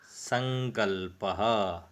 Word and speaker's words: संकल्पः: तो ये जो गांव है इसका अनुस्वार की तरह उच्चारण किया जाता है, अर्थात यदि हम हिंदी में लिखेंगे तो इसे ऐसा लिखा जाएगा संकल्पः। तो इसको इस प्रकार से उच्चारण करें, संकल्पः सिद्धिदायकः।